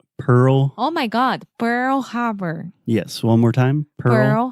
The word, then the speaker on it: Pearl Harbor: and it's the same that I feel with pure Harbor Pearl oh my God Pearl Harbor yes one more time Pearl Harbor I don't